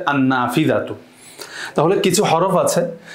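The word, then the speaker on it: النافذة: আদাররাজাতু আন্নাফিদাতু এই যে লামটা উচ্চারণ হচ্ছে না বরং সরাসরি আলিফটা নুনকে গিয়ে ধরছে আন্নাফিদাতু তাহলে কিছু হরফ আছে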